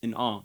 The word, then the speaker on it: in awe: It's in awe, right? So the awe should get more stress and the in should get less.